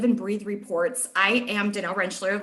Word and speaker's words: Danelle Rentschler: I am Danelle Rentschler, like Allison said, and you pronounced it right.